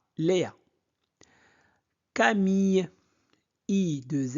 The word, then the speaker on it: Léa: Léa, Léa, E accent aigu se prononce E, E. C'est bon? Donc, Léa, Léa.